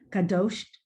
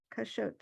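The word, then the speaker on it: קשות: Oh gosh, Kadosh. No, here, a shin, yeah, Kashot.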